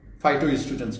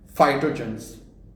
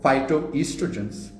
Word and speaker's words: phytoestrogens: And this guy can't even pronounce phytoestrogens correctly. Phytogens. Then he says nitroamines. I didn't speak about nitroamines. I didn't speak about phytogens. I spoke about phytoestrogens and nitrosamines, not nitramines.